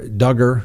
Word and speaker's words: Duggar: the defense attorneys for duggar rhymes with hugger were saying was well